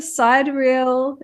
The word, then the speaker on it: sidereal: And Master Sidereal, is that right?